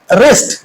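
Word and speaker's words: wrist: रेस्ट जिसको हम कलाई कहते हैं। रेस्ट में डब्ल्यू क्या है? साइलेंट लेटर्स है। इसकी साउंड हम यहां पे प्रोनाउंस नहीं करते।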